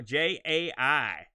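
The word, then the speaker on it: Jai: this were made by j redmond j is spelled cool guy style j-a-i so i think that's he's still j right j-a-i yeah and the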